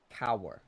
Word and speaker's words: Kaur: Kaur. Like cowering, but spelled different, kind of?